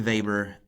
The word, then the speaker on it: Weber: If you're wondering why it isn't Max Weber, it's because he's German, and he seems to be one of the German thinkers who the whole world has decided they are actually going to pronounce his name correctly, so good for Max.